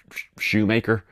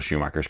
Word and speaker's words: Schumacher: Spa 91, I think he initially calls him Michael Schrodinger or Michael Shoemaker. He definitely says his name wrong.